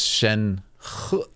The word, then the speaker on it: Shen: so cool right mhm that's Shen can you say mhm a little tiny hint of a but it's not very pronounced yeah sh too much too much that's so fun